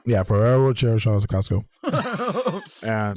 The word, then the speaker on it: Ferrero Rocher: Shout out to how you pronounce this. Ferrero Rocher. Yeah, Ferrero Rocher.